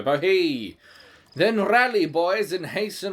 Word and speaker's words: bohea: I guess it rhymes with tea, so bohea.